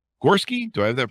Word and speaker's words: Gorski: Gorski. Do I have that pronounced rightly?